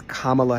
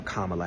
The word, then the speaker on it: Kamala: It's Kamala Harris.